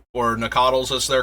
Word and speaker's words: Nacatl: Very similar to the Noctals, or Nacatls as they're correctly pronounced.